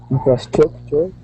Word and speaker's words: infrastructure: Infrastructure. I'll pronounce that this word. It's difficult. It's pronounced infrastructure. Oh, infrastructure. Infrastructure. So, say it out loud if you need to. Infrastructure. Infrastructure. Good.